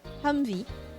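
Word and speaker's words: Humvee: Actually, actually, HMMV wy pronounced Humvey.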